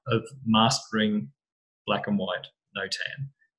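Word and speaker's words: notan: mastering black and white no tan I think some people pronounce it no time I think the Americans do but basically it just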